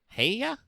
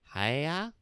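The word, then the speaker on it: Häyhä: Heya? Hey? It's there's an umlaut over the A's, so that should be like Heya? Long A's.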